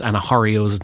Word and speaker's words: Anahareo: Just a quick note, I looked at how to pronounce Anahareo's name and found various sources that differed, but the most common pronunciation was Anahareo, and that's the one I'm going to use through this episode.